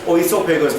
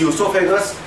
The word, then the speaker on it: oesophagus: Spelling starts with O. Don't pronounce as oesophagus. This is esophagus.